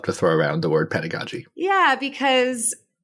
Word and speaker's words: pedagogy: me pronounce and then Define it is it pedagogy pedagogy pedagogy y you got it right the first time yeah so pedagogy is kind of the art of teaching and